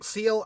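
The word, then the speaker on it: Ciel: you pronounce her name it's a simple name c-i-e-l um seal I guess um she was mentioned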